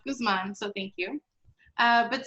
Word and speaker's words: Guzman: name the correct way most people say guzman but i'm latina so it's guzman so thank you uh